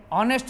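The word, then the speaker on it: honest: आप देखते हैं हॉर्स, ए हॉर्स, ये आवा में एच साइलेंट है, आवरली में एच साइलेंट है, ऑनेस्ट में एच साइलेंट है, ऑनरेबल में एच साइलेंट है, एयर में एच साइलेंट है।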